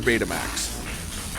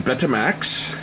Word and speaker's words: Betamax: Some people pronounce it Betamax. Others will pronounce it Betamax because, hey, when you've got two vowels together, you get normally the long sound. So Betamax may be the actual way to pronounce it. But I call it Betamax.